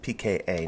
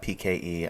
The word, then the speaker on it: PKA: my concerns okay so I mispronounced the PK a it's PKA not PK e I don't know why